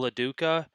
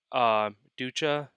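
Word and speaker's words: LoDuca: with All-Star catcher Paul LaDuca. Ducha. I'm not sure how you say that last You name. said it right the first time, Paul Duca.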